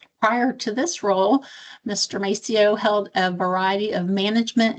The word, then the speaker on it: Mascio: I am so excited to introduce Robert Macio. Is that the correct pronunciation?